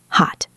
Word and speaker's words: hot: The word hot has a stopped T. It hot.